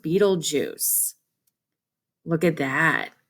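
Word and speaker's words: Betelgeuse: of the most popular popular stars looks like betelgoose it's pronounced beetlejuice look at that it's very very bright you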